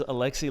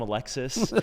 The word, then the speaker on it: Alexi: doing subtle jabs at Alexi. He's calling him Alexis. Like, you know, he's he's mispronouncing his name like Alexi is like